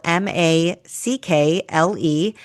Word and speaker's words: Mackle: That's spelled M A C K L E.